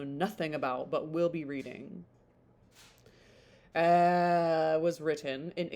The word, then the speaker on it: Reading: In 1785 to 86, Austen with her sister Cassandra attended the Abbey School in Reading. God, I forget how to say it. It's Reading.